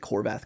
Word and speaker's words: Horvath: My last name is Horvath, and in Hungarian, it's a very common last name. It's pronounced Horvat.